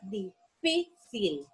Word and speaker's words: difícil: ¿Dónde sería colocada la palabra difícil? Tiene el acento o la tilde o la sílaba tónica la tiene en la penúltima sílaba. Entonces, podemos decir que es una palabra grave.